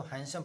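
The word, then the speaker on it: handsome: वन day means एक दिन, इसको हैंडसम नहीं पढ़ेंगे, इसको हैंडसम पढ़ते हैं, शॉर्ट ये डी इसमें साइलेंट होता है।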